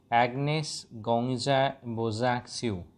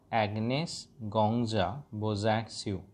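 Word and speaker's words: Agnes Gonxha Bojaxhiu: সত্তা ছিল, এন্টিটি ছিল, ফর্মারলি নোন অ্যাজ, এর প্রোনাউন্সিয়েশনটা আমি দুবার তিনবার বলছি, খেয়াল রাখবে, ফর্মারলি নোন অ্যাজ, যিনি পূর্বে পরিচিত ছিলেন, অ্যাগনেস গঙ্গজা বোজ্যাক্সিউ, অ্যাগনেস গঙ্গজা বোজ্যাক্সিউ, অ্যাগনেস গঙ্গজা বোজ্যাক্সিউ, was born in স্কপজিদা, then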